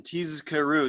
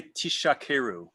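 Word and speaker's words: תזכרו: So too, the zayin in tizkaru, this is in the 3rd paragraph, should be pronounced distinctly. And you will hear people do this. Tizkaru. Well, he doesn't say why. You may know why? We don't want to say tishakeru with a shin instead of a zayin, which would be to lie.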